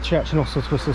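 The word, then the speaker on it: Church and Oswaldtwistle: Right, welcome to Church and Oswald Twistle station. That is how you say it, by the way.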